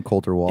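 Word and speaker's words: Colter Wall: Coulter Wall?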